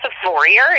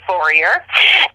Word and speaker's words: Vorreyer: So just right off the bat, I'll say it's like warrior with a V, Vorreyer.